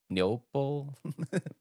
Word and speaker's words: Neople: being developed by uh neopal I believe that's how you say it neople NE neop neople we're going to go with that it's like people with an N yeah it's people with